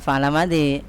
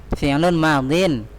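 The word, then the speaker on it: فعل ماض: Bukan fa'ala madhi. Apa bacanya? Enggak apa-apa, manusiawi ya. Tertawa, ada yang lucu. Apa? Damar. Zidan kasih tahu. Udah ketawa nih. Fi'lun madin. Sebentar, fi'lu madin. Fi'lun madin, fi'lun ya.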